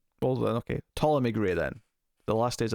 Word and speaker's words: Ptolemy: guess he pronounced that it's got the pt to start i i always struggle i think it's asylum p usually silent p see legions messed me up here because the character in that was plutonomy yeah i think usually it's a silent p well then okay ptolemy